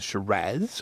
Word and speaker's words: Shiraz: call graveyard and it's a Shiraz or Shira depending on how you want to pronounce it and they make it